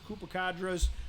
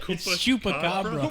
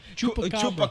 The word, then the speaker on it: chupacabra: There's lots of Koopacadas, but there's only one monster. What is it? Chupacabra. Koopa Troopa. How is it pronounced? What? Chupacabra. Chupacabra.